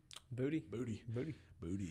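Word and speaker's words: Boutte: Booty.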